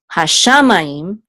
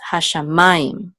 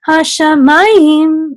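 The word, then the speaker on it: הַשָּׁמַיִם: It tells you where the accent of the word is, the accent mark of the word is. So because the tipcha is under ma, we know that this is hashamayim. It's not hashamayim, it's hashamayim, okay?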